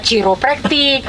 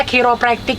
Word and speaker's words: kiropraktik: seru nih ada karena kalau kiropraktik itu ada yang bacanya ciropraktik ada yang bacanya kairopraktik jadi ternyata bacanya kiropraktik Ya tapi mungkin orang